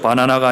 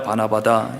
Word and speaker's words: 바나바: 발음을 잘해야 되죠. 바나나가 아니라 바나바다.